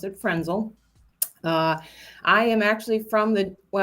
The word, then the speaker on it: Frentzel: Who is Frentzel? Hi. Good morning, Frentzel. The T is silent, so I pronounce it Frentzel.